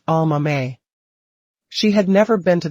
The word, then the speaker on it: Aomame: Written with exactly the same characters as the word for green peas and pronounced with the same 4 syllables, Almame.